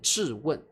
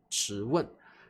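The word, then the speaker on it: 质问: 好，那么注意在大陆念质问，在台湾我们念质问啊，两个地方的发音不一样。在台湾我们念质二声的质问，在大陆他们念质问。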